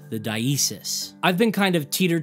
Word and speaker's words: diesis: I've heard some folks in the community say dissis. I've heard some say dasis. I've heard dasis. Of course, not to be mistaken with dascese, the Catholic thing. But I don't know, maybe it's just an accent thing.